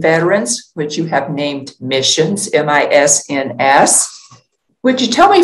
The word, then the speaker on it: MISNS: to say it um it also makes a nice acronym when you pronounce it as missions which veterans can relate